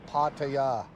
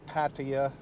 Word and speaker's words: Pattaya: how they say it pattaya it's not pattaya there's no ah right and it's not pattaya there's no i there's no i sound so yeah a guy's